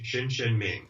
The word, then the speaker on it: Hsin Hsin Ming: are serious beginners Minds it's pronounced like there's a sh shinin Ming oh is it shinin Ming